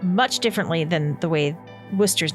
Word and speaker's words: Worcester: was like wait like the hockey team but it's spelled much different so this is w-o-o-s-t-e-r and that is it actually looks like Worchester but it said Worcester so he was named after a bottle of